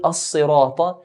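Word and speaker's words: الصراط: Then we have the word as-sirata. Ihdina as-sirata. Sad is heavy and sharp.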